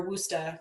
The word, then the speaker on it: Worcester: of weirdly named things i lived in worcester or wooster i'm never going to pronounce that correctly whatever it's like guys it's spelled like warchester it's not pronounced that way at all but when i